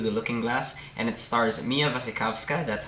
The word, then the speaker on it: Mia Wasikowska: Wonderland and through the looking-glass and it stars mia wasikowska that's how you pronounce her name I looked it up Johnny